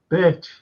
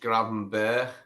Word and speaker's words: Gravenberch: No, I've heard that it's pronounced Gravenberch. It's in the Dutch tongue, it's Gravenberch. You don't say the ch in Dutch. It's Berch. Gravenberch. Yeah, sounds more like the word Berch. B-E-R-K. Gravenberch than Birch in the Dutch tongue.